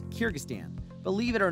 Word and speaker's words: Kyrgyzstan: and immediately thought wait what i can't even pronounce its name before you asks it's kyrgyzstan believe it or not it's easy to see